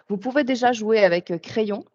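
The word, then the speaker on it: Craiyon: Vous pouvez déjà jouer avec Crayon, donc qui s'écrit comme un crayon, sauf que c'est AI au lieu de A.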